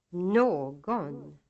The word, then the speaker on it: någon: Hustru, långsamt, någon, smörgås. These words are written as hustru, långsamt, någon, and smörgås, but pronounced, using accent 2, with the second syllable almost as loud as the first.